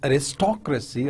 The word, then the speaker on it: aristocracy: when you talk about aristocracy or democracy so you see the stress on the second level on the second syllable right so that's why